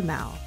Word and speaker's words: Mall: by way of the Mal and yes it's pronounced like that not like shopping mall as we commonly know it in the US the m in London